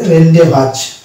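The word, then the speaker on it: rendezvous: word আছে সেটা হচ্ছে এখানে জেড হবে না অর্থাৎ এই শব্দটির উচ্চারণ হবে রেন ভাজ রেইন ডে ভাজ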